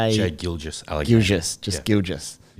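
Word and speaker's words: Gilgeous: Gilious just gilious.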